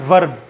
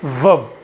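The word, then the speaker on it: verb: अच्छा, आमतौर पे बच्चे इसको कहते हैं वर्ब, वो आर प्रोनाउंस करते हैं, तो आर को हम प्रोनाउंस नहीं करेंगे, इसको बोलेंगे वर्ब। वर्ब, आर नहीं पढ़ा जाएगा।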